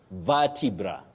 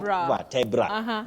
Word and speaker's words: vertebra: You say vertebra, vertebra, not vertebra. Vertebra, common but wrong.